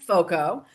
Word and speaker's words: Foco: So Foco. And again, that rhymes with cocoa.